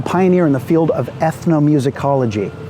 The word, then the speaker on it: ethnomusicology: He was a pioneer in the field of ethnomusicology. Ethnomusicology, that's a 7-syllable barn burner of a word.